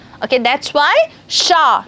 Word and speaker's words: chat: in some certain words, the end consonant or the end alphabet in a single word is not supposed to be pronounced. Okay, that's why sha, not chat or chat.